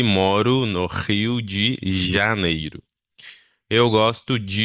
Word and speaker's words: Rio: pronúncia, como por exemplo, você vê que eu pronuncio rio, né? Rio, então é o Rio de Janeiro, né? A gente não fala Rio, a gente fala Rio.